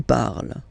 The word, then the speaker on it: parles: So you've got the two first forms, you pronounce them the same way. You write them differently, of course, because you've got here, and then you've got and s, okay? But then phonetically, they are the same.